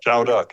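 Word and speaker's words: Châu Đốc: the actions you did I think it's PR pronounce Chow duck is that Chow duck exactly okay that was during the Ted offensive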